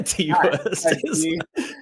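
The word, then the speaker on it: Ti West: Ty West? Oh, is that how you say it? Yeah, T West. That's his rapper name.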